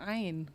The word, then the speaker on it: ‘ain: Memang bacanya harusnya ain.